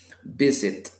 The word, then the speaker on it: visit: Visit, visit, el acento, yo se lo escucho al inicio, visit, porque si lo